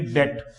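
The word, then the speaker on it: debt: अपने इसको डीबट कह देते हैं, कोई बड़ी बात नहीं है, हम बोलचाल की भाषा में यूज करते हैं। लेकिन इसका जो करेक्ट प्रोनाउंसिएशन होता है डेट, इसमें बी साइलेंट है। और रूल ये है कि यदि बी के बाद में टी आता है तो बी हमेशा क्या रहता है? साइलेंट रहता है।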